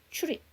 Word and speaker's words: trip: 근데 TR 사운드니까 R을 정확하게 해주려면 trip, R 발음해서 trip.